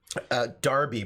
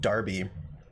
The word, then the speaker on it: Derby: both cities as well Darby probably is how you pronounce it yeah you probably are pronouncing it Darby any other games you